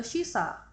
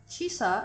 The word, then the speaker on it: shisa: In fact, shisa is the Ryukyuan pronunciation of shíshī.